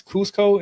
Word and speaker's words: Cusco: I think it's Cusco, if I'm not mistaken, Peru, right?